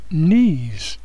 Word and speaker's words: knees: word knowledge knowledge or knes the K and the N here make n n so this word is knees this word word is